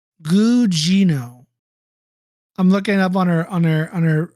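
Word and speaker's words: Gugino: pronounce her last name guino I'm looking up on her on her on her on her page it has how pronounced her name okay last name Gino she plays a charact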